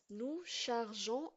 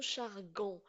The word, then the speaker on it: chargeons: à la fin e nous chargeons on va ajouter e pour garder la prononciation parce que sans e on va le la la prononcer nous chargon donc parce que j'ai